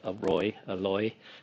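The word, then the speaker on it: ร้อย: It's called a loy, depending upon which part of the country you're in. Sometimes the R is pronounced as an L.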